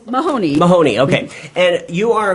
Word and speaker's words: Mahoney: jessica how do you say your last name mahoney mahoney okay and you are a community organizer